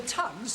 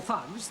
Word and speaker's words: Thugs: The Tugs, or Thugs, the pronunciation is immaterial, used to waylay travellers and strangle them.